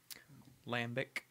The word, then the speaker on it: Lambic: Well, how do you pronounce the name of it again? Lambic.